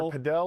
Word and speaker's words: padel: It's either padel or paddle, depending on how fancy.